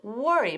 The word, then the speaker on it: worry: Tell her not to worry. Por cierto, ¿cómo pronunciamos worry? Muy bien, con ese sonido.